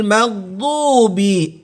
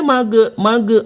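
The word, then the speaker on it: مغضوب: Nah, kesalahan yang sering muncul di ayat 7 ini adalah pengucapan maghdub, gha sukun, sering kali dibaca pantul. Ghairil maghdubi. Nggak boleh mage, bukan mage. Karena ini tidak termasuk huruf qalqalah.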